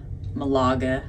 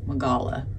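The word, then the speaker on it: Málaga: dinner we were in Malaga today I keep wanting to say magala I hope I didn't say that earlier or mispronounce it but I want to mess up the G so anyway it was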